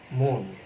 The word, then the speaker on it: মন: আসলে কিন্তু মন বললে হবে না, এখানে বলতে হবে মন।